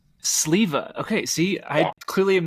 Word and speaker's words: Sliva: And I was just telling Rudy, I'm pretty sure I've always pronounced your last name as newcomer Silva.